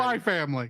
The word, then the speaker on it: Spy x Family: X family that's right spy family spy family the ex is silent okay the ex is